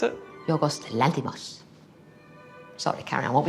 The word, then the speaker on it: Yorgos Lanthimos: How do you pronounce it? Yorgos Lanthimos.